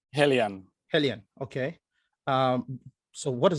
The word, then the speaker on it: Heliene: So is how's it pronounced? Heliene.